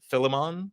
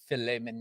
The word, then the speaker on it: Philemon: Like I've read through Philemon a number of times getting ready, and I'm